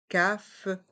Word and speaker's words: cafetière: Dans le mot cafetière, on entend bien le son IE avec le E accent grave. Et le R reste en suspens. Cafetière, cafetière, expresso, la cafetière expresso, la cafetière expresso, la bouilloire, la bouilloire.